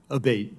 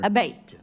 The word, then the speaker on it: Abbate: I saying your name properly we've heard it pronounced three different ways today in the hearing aate Senator aate okay thank you um you had mentioned a